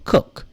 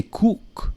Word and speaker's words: cook: the confusing thing is don't rely on spelling because there are cases where double O is a shorter one for some a cook you know say cook you say cook and then you enjoy